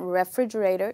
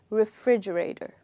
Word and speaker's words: refrigerator: The first part is not pronounced as re. It's not refrigerator, you would say refrigerator, okay?